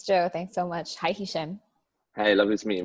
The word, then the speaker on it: Hishem: Thanks so much for being on the show, Hishem. You and very well pronounced.